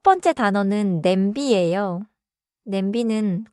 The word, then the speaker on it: 냄비: Pronounciation is simple here. B do not cut it too hard. Say it smoothly. Let me try. 좋아요. 냄비. Nice and smooth.